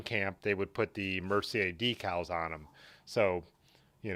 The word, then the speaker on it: Mercier: looks like mercy or i'm assuming it's pronounced mercier with the french pronunciation or but um so